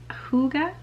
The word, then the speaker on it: hygge: about this idea called hygge which i it doesn't look like that's how you would pronounce it but as best as